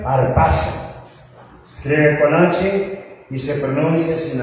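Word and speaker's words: harpazo: Arpazo y se pronuncia arpazo. Escribe con hice sin h. Aparte de que es sincronización, la H es muda, como conocemos, bien arpazo.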